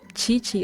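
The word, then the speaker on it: Qiqi: Chichi. O sea, se pronuncia Kiki, pero es Chichi.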